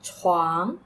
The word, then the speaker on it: 床: Careful with the tone. 这是床。这是床。Which tone is the word 床? Yes, second tone, the rising tone.